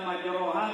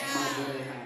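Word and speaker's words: مجراها: Nanti kalau di Al-Quran tulisannya majroha. Jangan baca majroha, tapi baca apa? Majreha. Ini satu. Kan beda. Tulisannya majroha, tapi cara bacanya majreha.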